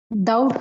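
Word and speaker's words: doubt: எப்படி படிப்பீங்க எப்படி படிப்பீங்க டவுட் சார் B silent B சைலெண்ட்டா அது பி இருக்குறதாவே நினைச்சுக்க கூடாது இங்க பாருங்க ஒன்னு வந்து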